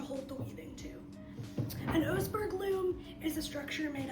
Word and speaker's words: Oseberg: Oseberg or Osberg? Oseberg. Okay. I was gonna say that wrong.